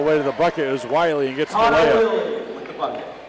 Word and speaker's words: Wiley: Driving all the way to the bucket is Wiley and gets the layup. They're going to pronounce it Willie, so we will too.